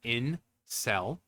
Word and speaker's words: incel: So incel, pronounce it in cell.